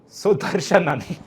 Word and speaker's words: Sudarshanan: And to do that, I've got George Binoy, Yash, and a debutant on our show, Sudarshanan, who will from now be known as Suds.